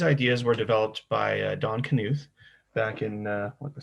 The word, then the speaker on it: Knuth: um so these ideas were developed by don knuth back in uh what the 70s maybe 60s